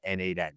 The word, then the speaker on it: n8n: names are already taken he initially settled on nomation which reflected the Cod the node-based nature of the automation tool But ultimately shortened it to naden so I think we could all agree it's NAD I don't know where Nathan comes from other than the